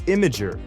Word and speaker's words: Imgur: I learned for the community. It's Imager. Imager?